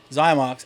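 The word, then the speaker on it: Xymox: Zymox.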